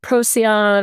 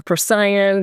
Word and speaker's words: Procyon: Okay, so I'm going to wrap this up by we've got Heaven's Gate, the stars of Procyon or Procyon, different people pronounce it different ways, Betelgeuse, and Sirius.